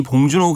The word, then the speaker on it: 봉준호: 위해서 자랑스럽지 못해서 이제 그렇게 하는 측면이 있었는데이 봉준호 감독의 아카데미상 등의 수상이 이걸 완전히 바꾸게 했다라고